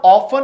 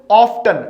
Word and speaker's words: often: बेटा ऑफन में हमेशा टी साइलेंट रहता है, लेकिन अक्सर हम कोई गलती से हम इसे टी को बोल देते हैं ऑफ्टन। ये गलत प्रोनाउंसिएशन है, माइंड इट बेटा। ऑफ्टन इज a wrong pronunciation, the right one इज ऑफन।